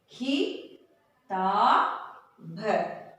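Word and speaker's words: किताब: When there is no long sound at the end of the word, the a sound will not pronounce there.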